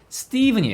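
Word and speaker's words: Stephen: 실상 이 너무 쉽죠 ph 가 영어에서 유일하게 유일하게 불이 발음 나는것은 이거밖에 없어요 부위 바른 나는거 이게 예외 딱 하나에요 그래서 이 발음은 보다 예 ph 가 여기서는 f 발음이 낮 대부분 나는데 이 발음만 유일하게 미 렇게 부위 발음 난다 라고 안계신 알고 계셔야 되는 유일한 일반 단어도 아니고 사람 이름이에요 자 그래서 st 입은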